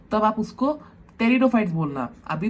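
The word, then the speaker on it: Pteridophytes: भी तो और हॉपफुली तो तब आप उसको तेरी दो फाइट बोलना अभी तो स्पेलिंग याद रखना के लिए अपन बोलते हैं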